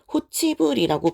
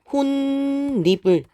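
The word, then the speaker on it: 홑이불: 예를 들면 홑, 이불 같은 경우는 니은 첨가 현상이 생기기는 하지만 얘는 호치불이라고 발음하지 않아요. 그래서 홑, 니은 첨가가 돼서 니은, 불이 되고 그때 디귿이 또다시 니은 만나서 혼리불이라고 발음을 하게 됩니다.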